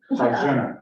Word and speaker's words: Farjana: so the J is like Z, Farjana.